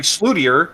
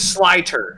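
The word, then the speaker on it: Slyter: that my name is looks like slootier or slutter but you see right next to it it says slider so you're like oh it's pronounced slider so you mean like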